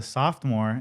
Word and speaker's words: sophomore: The first one I went to, I was a sophomore, and I went to a seniors prom. A sophomore. Sophomore? I was a. Soft. That's not how you say it. No. Soft. Soft. SOPH.